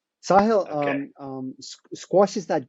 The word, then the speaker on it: Sahil: will never forget that word again or the pronunciation sahill um um squash is that game that people